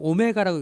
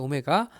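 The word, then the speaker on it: ω: 이건 W가 아니라 뭐라고 하냐면 오메가라고 읽습니다. 오메가. 이 각속도는 오메가로 읽는다.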